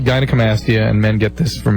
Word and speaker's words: Gynecomastia: How do you pronounce that? Gynecomastia.